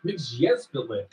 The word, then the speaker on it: Mxyzptlk: Mxyzptlk, Who? that's how it's pronounced, as primary villains.